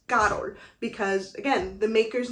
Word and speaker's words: Carol: before even though it's spelled correctly because it's c-a-r-o-l you are pronouncing carol but in this you know instance it's not correct it's actually pronounced karo because again the maker's name is carolina so